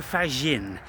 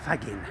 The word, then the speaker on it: Fagin: Federico Fagin. He's Italian and his name is spelled F A G I N like faggin.